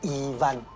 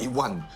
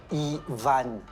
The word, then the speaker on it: Ivan: This isn't mahjong Not "Yi-wan" but "Ee-van" Yi... So difficult to pronounce. How do you spell it? I-v-a-n -Ivan Ee-van (French) I studied in France That's how the French pronounce it Yi...